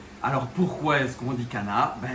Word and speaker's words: Channa: Donc c'est une origine grecque et donc il faut dire Kana et pas chana.